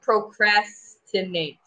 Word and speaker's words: procrastinate: saying the S kind of like shh sound. It's just procrastinate.